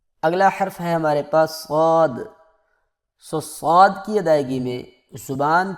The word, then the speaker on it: صاد: کچھ لوگ اس کو سواد پڑھتے ہیں اور کچھ لوگ اس کو صاد پڑھتے ہیں، تو یہ دونوں طرح غلط ہے، بلکہ اس کا اصل تلفظ یہ ہے صاد۔ اگلا حرف ہمارے پاس